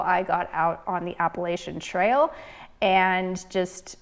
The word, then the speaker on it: Appalachian: Yes, I say Appalachian, not Appalachian. But my story begins with the Pacific Crest Trail. You see, I was born and raised in California, hence my Appalachian pronunciation.